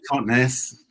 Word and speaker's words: Totnes: Just Totnes. Totnes. Just look how it looks, Totnes.